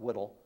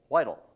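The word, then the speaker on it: Whitall: hannah whitehall smith that's w-h-i-t-a-l-l not whittle i stayed with her great-granddaughter for six weeks and was going through the family papers and she always kept telling me not whittle whitel it i originally had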